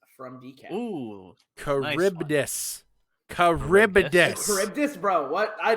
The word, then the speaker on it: Charybdis: We're going to go with Charbitus from Decap. Ooh, Charybdis. Charybdis. Charybdis, bro. What? I never would have pronounced that correctly.